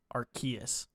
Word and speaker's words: Arceus: or whatever our key i think it's with a hard c archaeas all right maybe i